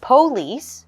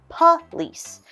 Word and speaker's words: police: We have our word police, 2 syllables. You'll notice there is an O, but we are going to change that to a UH sound. So instead of police, we will say police.